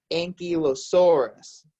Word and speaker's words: ankylosaurus: an army tank yikes so this dinosaur we pronounced a cue of soreness ink you a source you can practice at home ankylosaurus so an ankylosaurus had the spikes on the